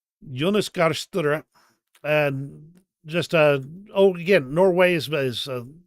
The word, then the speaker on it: Jonas Gahr Støre: Get that on and Jonas Gahr Støre. Jonas Gahr Støre.